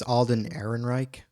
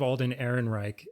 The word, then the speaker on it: Alden Ehrenreich: How do you pronounce his name? I think it's Alden Ehrenreich. So now we have to think of Alden Ehrenreich as Han Solo.